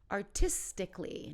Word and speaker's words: artistically: say artistic ly so we take out that last a artistically not artistically artistically logically